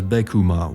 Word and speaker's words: Beckman: or 2.89 billion because the numbers can be pronounced as beckum which is how Beckman is pronounced in Japanese both seem fitting for